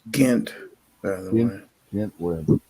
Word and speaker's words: Ghent: It's Ghent, by the way. Ghent, whatever. I forget the pronunciation of that word.